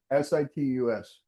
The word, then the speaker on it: situs: S I T U S T. Citus. Some people call it Citus. Some people call it Situs property.